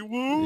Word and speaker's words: Wu: House of Henry Wu. Yeah. Complete with like Rhymes with boo.